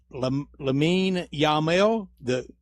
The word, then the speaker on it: Lamine Yamal: Help me with the pronunciation. Lamine Yamal.